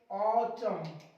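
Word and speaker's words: autumn: देखो एम के बाद एन मिल रहा है, चुप कर दो इसको, ऑटम, कॉलम, शोलम, हिम, हिम पढ़ेंगे।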